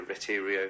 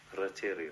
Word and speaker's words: Retiro: Even on our downtime, we were able to go down into the city and go to the Retiro, I think I pronounced that right, park. Isn't it It's Retiro, something like that.